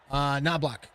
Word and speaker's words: Knobloch: Knobloch. That's how you say his name.